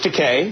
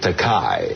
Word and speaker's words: Takei: 40 years together and he still couldn't pronounce my name my surname properly George you're George Takei yeah but he get pronouncing it takai right and I kept correcting him I couldn't get